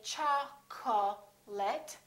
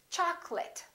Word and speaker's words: chocolate: of people get wrong we don't say cha ko let we say chocolate and remember don't say chocolate it's chocolate i'd like some chocolate in